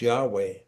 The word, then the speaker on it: Yahweh: And it's it's it's pronounced Yahweh.